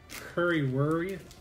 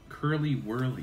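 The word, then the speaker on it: Curly Wurly: Curry Whirly. How do you say it? Curly Whirly.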